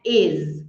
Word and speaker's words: is: eu sei eu sei Provavelmente você fala is né com som de s mas é is com som de z Dream no plural é